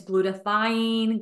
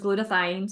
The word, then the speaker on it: glutathione: And there's several different ways of saying it. It's glutathione, glutathione, glutathione, right? But how I learned it was glutathione. So that's how I'm going to pronounce it.